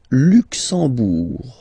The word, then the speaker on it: Luxembourg: Le Luxembourg, okay, final G not pronounced, and then when you combine this M here, you get the sound en.